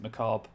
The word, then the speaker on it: macabre: what a macabre souvenir i hate that pronunciation of i pronounce it macabre i hate it when people pronounce the bee the re at the end i guess technically should be pronounced maybe i don't know just sounds weird second volume teaches ethics